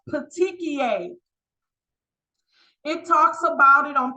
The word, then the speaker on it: petechiae: Next, this word is pronounced petechiae.